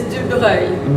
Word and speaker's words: Dubreuil: Oh my God, my name is the worst to pronounce in English. Yeah. It's Dubreuil.